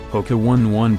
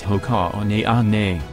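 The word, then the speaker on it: Hoka One One: bondi six running shoe poke one one pronounced as hoka on a on a not the number one repeated twice is an athletic shoe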